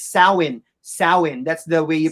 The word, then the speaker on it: Samhain: Yes, and it's not pronounced Samhain. It's Samhain.